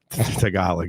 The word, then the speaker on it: Tagalog: Tagalog, yeah, that's how you pronounce it, but yeah.